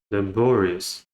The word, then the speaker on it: laborious: Next, we have laborious. Laborious. So again, the schwa will have the first schwa sound in the first syllable.